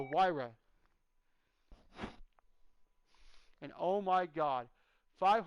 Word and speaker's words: Huayra: bought a Pagani Huayra it's not how it's spelled it doesn't sound like it's spelled it is the Huayra and oh my god